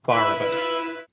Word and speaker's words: Barabbas: rhythm, which is actually the name Barabbas, but in the French, the emphasis is on the first part of the word, so that's why it's Barabbas.